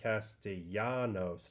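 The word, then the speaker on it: Castellanos: I'm pretty sure it's Nick Castillanos, not Lanos. Yeah, you're right. I I pronounced it like a like a gringo.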